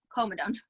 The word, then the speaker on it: comedone: comet agenda to ssin word for blackhead okay coma dome that's what it is comedone you'd think I know see I went to